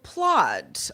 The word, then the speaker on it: Plaud: So Plod, I guess rhymes with Claude.